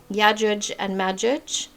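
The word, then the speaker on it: يأجوج ومأجوج: And this is how you would find it in the Arabic. It says Islamic, but I prefer to say Arabic. Yajuj and Majuj.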